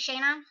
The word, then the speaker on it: Shayna: Hi everyone, my name's Shayna. I know it doesn't look that way, but that's my name. That's how it's pronounced.